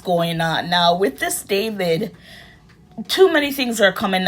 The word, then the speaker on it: D4vd: It says singer David but he spells it D4 V D and his actual name is David which is spelled the correct way D A V I D.